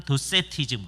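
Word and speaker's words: docetism: 영어로는 도세티즘 그래요. 가연설을 도케티즘이라고 발음을 하도록 유도를 해요. 잘못된 발음. 도케티즘.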